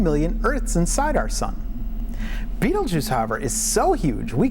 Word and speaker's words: Betelgeuse: DEAN: IT'S NAME IS BETELGEUSE WHICH MOST PEOPLE PRONOUNCE BEETLE JUICE (DON'T WORRY, I WON'T SAY IT A THIRD TIME).